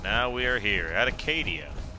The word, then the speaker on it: Acadia: And now we are here at Acadia. I always thought it was called Arcadia, but it is just pronounced Acadia.